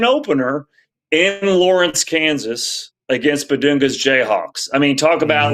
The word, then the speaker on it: Bidunga: Well, speaking of Bedunga or is it Bedonga? I think it is Bedunga. Is that how you pronounce it? I think it is Bedunga. It's just it's it's Yeah, so it's Bedunga.